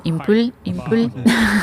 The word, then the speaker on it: Impul: Team Impul. French pronunciation. Yeah. In Japanese, they call it Impal, right?